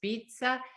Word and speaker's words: pizza: Portanto, aqui a pizza é super conhecida. Atenção que a pronúncia é pizza, como se tivesse um D antes dos Z's.